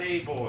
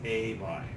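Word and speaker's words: Ay b'y: It's not a boy, it's not I boy, it's not I buy. It's a buy.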